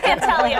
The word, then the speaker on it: Pantaleo: It is Pantaleo.